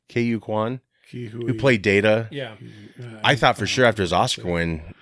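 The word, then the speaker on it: Ke Huy Quan: K.U. Kwan, who played Data.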